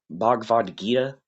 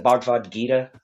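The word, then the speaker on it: Bhagavad Gita: He he was largely inspired by the uh how's it pronounced? The Bvad Gita. Um the Bvad Gita. I think that's how it's said. It's a specific the Bavad Gita, right?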